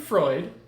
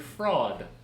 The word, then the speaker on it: Freud: I am a follower of Sigmund Freud. You don't even know how to say his name. No. Not Sigmund Freud. Sigmund Freud.